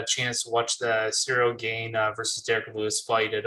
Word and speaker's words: Ciryl Gane: kind of, that's how you say his name, Ciryl Gane, really did to Derek Lewis, it really questions like, is this the guy to be Francis Ngannou?